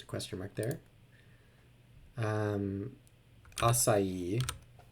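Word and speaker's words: açaí: question mark there um acai is a food pronounced with three syllables cast of a play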